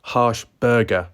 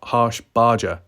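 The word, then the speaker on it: Harshbarger: welcome clear Drew Ed harsh Burger not harsh Barger say it like Burger not Barger fire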